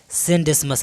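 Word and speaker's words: Scenedesmus: समझ ही रहे होंगे थोड़ा लिखा कुछ पढ़ने में कुछ और आता है तो क्या है सन डिसमस आप ध्यान में रखिएगा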